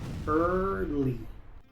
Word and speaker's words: early: Muchos pronuncian esta palabra early, pero aquí la e y la a son mudas, así que esta palabra se pronuncia early.